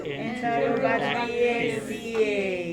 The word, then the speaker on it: Enterobacteriaceae: So just think enterobacteria aceae. Okay. A-C-E-A-E. It's like a Latin ending.